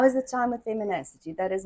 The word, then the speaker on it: Feminacity: the beginning yes um feminity is that correct it's feminity if you break it down it's pretty much fem in a city oh F in a